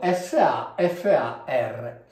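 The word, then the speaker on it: ספר: tratti dalla Bibbia ovviamente, queste qui sono due A, questa qui in realtà in certe situazioni si legge anche O, ma noi diciamo nella maggior parte dei casi è una A. Quindi qui abbiamo SAFAR e questa parola è un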